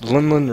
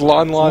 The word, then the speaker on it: Lon Lon: Lunlun Ranch? Lunlun. It's Lon Lon Lon Lon.